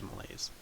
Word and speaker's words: malaise: just wrote curse of Mal Malay again Mal malaise Mal I'm pretty sure it's malaise just said it wrong anyway if you're a